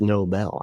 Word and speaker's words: Nobel: Yeah, a Nobel Prize, not a Nobel Prize. That's how Trump, I think, thinks it's pronounced, but it's not. It's Nobel.